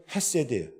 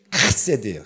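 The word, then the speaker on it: חֶסֶד: 인애를 우리나라 말로 인애로 번역했지만 히브리어로는 헤세드예요. 정확한 발음은 카세드예요. 카세드. 네, 카세드예요. 네, 이래야 좀 정신이 드시죠? 헤세드.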